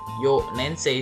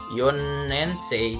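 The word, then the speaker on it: 四年生: nensei S nensei Nah untuk kelas 4nya dibacanya yo nensei tidak Yon nensei ya tidak Yon kan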